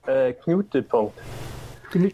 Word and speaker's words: Knutepunkt: Knutepunkt. See, that's easy for you to say. But, Yeah, but it's Norwegian.